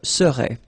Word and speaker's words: serais: Remember, so AIS, but then you don't pronounce the final S. Je serais.